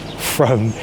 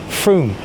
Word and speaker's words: Frome: It's never pronounced Frome, it's always pronounced Frome.